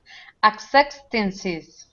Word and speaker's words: acceptances: declines right acceptances accepts acceptances that's it acceptances so it's four syllables acceptances and declines good